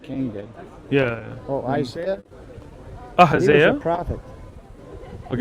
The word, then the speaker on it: Ahaziah: Yeah, Ahaziah? Is that how you say it? Ahaziah. Ahaziah. Just another way to say it.